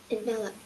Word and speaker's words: envelope: Envelope.